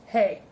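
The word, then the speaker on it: hej: And hello in Swedish is spelled H-E-J, which looks like it could be really confusing, but it's actually just hey.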